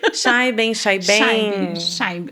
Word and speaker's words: Chaiben: Eu pronunciei certo? Não. Assim, Chaiben.